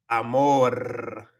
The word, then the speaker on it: amor: So like perro, But actually, you can roll your R's even when the R is at the end of a word, like amor. Amor. It's not just amor, but you might also hear amor.